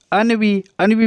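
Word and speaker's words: ennui: इससे एनवी मत पढ़ना। AE उसकी स्पेलिंग होती है ENVY, एनवी। इसका मतलब क्या होता है? ईर्ष्या को कहा जाता है एनवी, लेकिन ये क्या है? अनवी है। तो ध्यान रखना ये अनवी है और वो क्या है, एनवी है।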